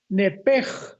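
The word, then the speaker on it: נפש: con N de Nancy, nepesh. Pero la SH en el hebreo se pronuncia como J. Entonces se pronuncia nepej con la J al final.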